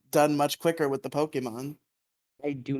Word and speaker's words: Pokemon: Pokemon exactly also it's Pokemon stop stop infecting my brain you mean poke Emon no it's Pokemon poke Emon that's not how you pronounce this Pokemon Pokemon nope